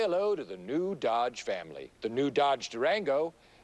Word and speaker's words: Dodge: and the yge charger okay pronounce Dodge I don't want to tell you how to do your job pal but I'm pretty sure it's a a soft D let's just try Dodge all right hello America